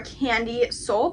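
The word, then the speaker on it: Kandyseoul: tock so they're all their like apps are candy soul but it's spelled a little different it's about k a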